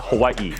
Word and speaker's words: Hawaii: Hawaiians get mad when you mispronounce it, and I got for it. So, it's Hawaii.